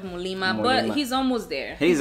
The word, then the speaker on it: Muliima: again mo lima so we're still walking on the pronouncing the m instead of the instead of the end he says molina instead of mulima but he's almost there